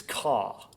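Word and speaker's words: か: By the way, how do you say fire? Similar to how you say strength, it's ka.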